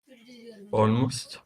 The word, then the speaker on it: almost: a message but uh so which which uh syllable can we emphasize all or most which one almost almost the first syllable first syllable that's right